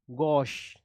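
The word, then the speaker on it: gauche: ठीक है, इसको ना च पढ़ना है ना स पढ़ना है, इसको बीच के शब्दों में। ठीक है, इसका प्रोनाउंसिएशन बहुत मैटर करता है। क्या पढ़ेंगे इसको? गॉश।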